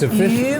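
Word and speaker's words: 鱼: Meaning because it's yu, right? Which also sounds like the word for returns.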